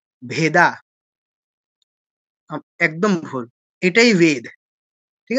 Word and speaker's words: বেদ: এই এটা হচ্ছে অ এটা ভেদ ভেদা নয় ভেদ ভেদ অ টা হচ্ছে ডি এর পরে এ তারপরে হচ্ছে কি এই